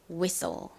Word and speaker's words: whistle: T가 묵음으로 소리가 나지 않아서 S와 L의 소리인 so 소리가 납니다. so. 조금 세게 된 소리처럼 발음이 나요. so. 끝에 E는 어차피 떨거지로 소리가 나지 않잖아요. 그래서 SL의 소리인 so 소리가 나는 거죠. 자, 그래서 연결해보면 앞부분은 위, 뒷부분은 soul이 됩니다. whistle.